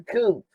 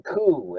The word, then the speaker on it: coup: On September 11, 1973, the uh US stages a coupe or coup in Chile. I always pronounce it coupe.